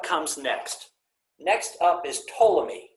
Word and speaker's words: Ptolemy: next next up is ptolemy spelled with the silent p and this is many